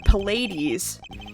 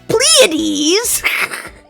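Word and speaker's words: Pleiades: The Pades. Is that how you say it? Pades. Google. Google. If I got this one right, I'm going to be so proud of myself. Pades pronunciation. Pletes.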